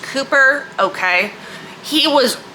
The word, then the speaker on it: Cowper: Second is William Cowper, despite the fact that it is spelled Cowper but pronounced Cooper, okay?